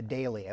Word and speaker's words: dahlia: But we like the dahlia, which is the way the English pronounce it. Dahlia?